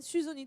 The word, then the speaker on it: Suzzoni: C'est très bien prononcé. À l'italienne, Suzoni tout simplement. Non, c'est corse.